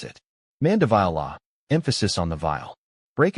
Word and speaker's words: Mandevilla: Vile like vile with the emphasis on this syllable and a long i sound.